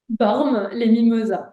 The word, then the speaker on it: Bormes-les-Mimosas: Bormes-les-Mimosas.